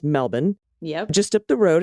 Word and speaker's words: Melbourne: and i live near melbourne which of course is pronounced melbourne yep just up the